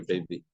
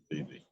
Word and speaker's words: Bibi: Bibi or baby? Bibi. Rav Bibi? That's what they told me in school also.